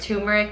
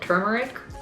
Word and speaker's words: turmeric: Am I saying it wrong? Is it turmeric? You're fine. How have I been Turmeric. saying it? Is it turmeric or turmeric? Everyone says turmeric.